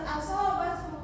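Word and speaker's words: أصابتهم: Yang pertama, ada pada lafaz asobathum musibah. Asobathum. Nah, pada lafaz asobathum musibah ini terdapat mim sukun bertemu dengan mim hidup. Maka pada lafaz ini dia disebut hukum tajwidnya yaitu idgham mimi.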